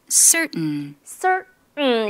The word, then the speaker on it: certain: 뭐냐면 보세요 비슷하지 않아요 그죠 리튼 철자는 t인데 발음이 이렇게 나는 거죠 certain 이렇게 됩니다 그 철자는 certain gotten got 이러는데